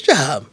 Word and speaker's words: Jean: probably don't know that the name is pronounced J you may not know